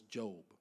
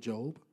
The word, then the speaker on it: Job: probably none is none is more impactful as job it's spelled job but its name pronounced job it's in the Old Testament now job is